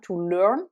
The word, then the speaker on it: learn: Là aussi on a ce verbe qui pour lequel le EA se prononce en son choix, to learn.